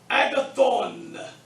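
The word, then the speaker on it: ἀγαθόν: So here's how you pronounce it. Agathos, agathi, agathon.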